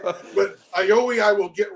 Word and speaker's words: Oyovwi: Oyovwi. So the V is silent. I'm thinking the W is silent. The V. So when you silent the V, Oyovwi.